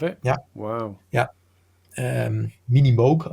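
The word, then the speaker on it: Minimoog: moo and also the mini moo um I have the original uh an original Mini moo uh say you still have it yeah wow yeah um minimog I should actually pronounce sorry for that and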